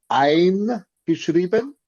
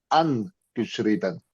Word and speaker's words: eingeschrieben: Okay, you have to pronounce it correctly because it is eingeschrieben, and you sound like you're saying angeschrieben.